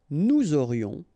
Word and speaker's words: nous aurions: Nous aurions, final S not pronounced, and then you've got this liaison, nous aurions.